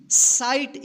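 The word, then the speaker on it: sight: एस आई जी एच टी साइट इसको सिघिट मत पढ़िएगा। ठीक है ना? क्या पढ़ेंगे इसको? साइट। यानी आई के जस्ट बाद जी एच रहे तो इस आई का आई उच्चारण कीजिएगा।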